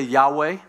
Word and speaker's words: Yahweh: of the personal name of god everybody say yahweh yahweh it's on your screen yahweh which is the